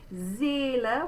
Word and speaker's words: Seele: Seele, we're going to say again a Z sound at the beginning. A, there's our closed E.